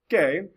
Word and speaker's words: que: kw the quas sound it always makes a hard k sound so you have a word like k-u-e like this right here you'll say que and you want to say you have this word ken it won't be queen you have this word it won't be quiero it just the q-u-i makes a key sound q-u-a makes it one